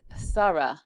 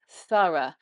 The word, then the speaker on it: thorough: Another one that I could throw in with though is thorough, thorough. Thorough actually is an unvoiced TH, so with the tongue between the lips again, but only just made by the mouth, no voice involved.